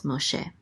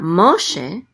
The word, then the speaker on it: Moshe: is of course Moses Moshe and this is the accent mark so it's not Moshe it's Moshe the accent is on she okay then we have